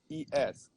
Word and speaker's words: Radhames: So my real name is Radames. Yes. And the hard part of it is that in Spanish, the H is silent. So I have an H right in the middle. It's Radhames.